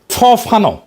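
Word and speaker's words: Fanon: ফরাসি আলজেরিয়ান চিন্তাবিদ ফানো ফানো নাম আসল উচ্চারণটা।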